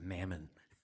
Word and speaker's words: Marmon: The last name is pronounced Mammon.